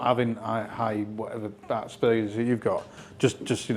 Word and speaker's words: Asperger's: Asperger's. Get you. Right. No. You put the emphasis on the wrong letter there. Asperger's.